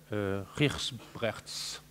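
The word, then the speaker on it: Gijsbrechts: Alors, je vous le prononce à l'hollandaise, on m'a dit que ça se prononçait Rijsbrechts, d'accord ?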